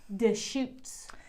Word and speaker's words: Deschutes: it d-e-s-c-h-u-t-e-s i wasn't quite sure how to pronounce that so it's deschutes there was some practicing and there was some